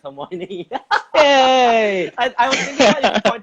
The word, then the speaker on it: Hermione: It's Hermione.